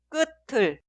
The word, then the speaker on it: 끝을: En estos casos, en la pronunciación, la consonante final tiut se traslada al lugar de i응 en la sílaba posterior y se pronuncia tiut como consonante inicial. 끝을, 끝을, 끝을.